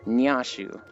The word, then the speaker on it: Nyashu: I'm putting too much knee at the front. It's Nyashu.